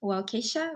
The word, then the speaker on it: Waukesha: So for the victims of what happened in Waukesha, right?